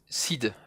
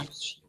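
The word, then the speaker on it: Sidhe: Seed, la Ban Seed, mais ça se prononce Seed, ça se prononce Ah, Shi.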